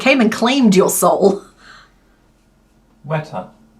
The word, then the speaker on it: weta: and claimed your soul WETA that's how you pronounce it WETA as in don't shake this hand shake this one it's wet there you go wet we don't get many